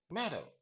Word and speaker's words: matter: What's the matter? Matter அப்படின்னு சொல்லாதீங்க. கடைசில வர ஆற ஆங்கிலத்துல எப்பொழுதுமே நம்ம உச்சரிப்பதே கிடையாதுங்க. சரியா? அப்போ மேட்டர் அப்படின்னு சொல்லக்கூடாது. மேட்டர்.